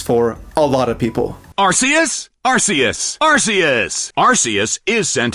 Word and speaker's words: Arceus: How do we pronounce this creature's name? Is it Archus or Arus?